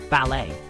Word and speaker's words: ballet: English phonetics for instance ballet comes from French and retains its original French pronunciation now speaking of letters